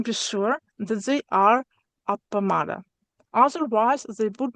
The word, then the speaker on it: appamāda: The uh penultimate syllable of a word apamada has a long a Yeah. Yes. But the root was med.